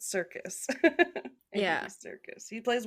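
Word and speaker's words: Serkis: Yeah, spelled with an S, but Circus.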